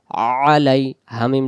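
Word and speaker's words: عَلَيْهِمْ: তা আন আম তা আইন জবর আ লাম ইয়া জবর লাই আলাই হা মিম জের হিম আলাইহিম আলাইহিম আইন অক্ষর যদি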